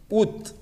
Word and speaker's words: août: Y el mes de agosto, este de aquí, ut, como si fueran solo las dos últimas letras, ut, ¿bon? Comons, Renzo Padilla y luego César.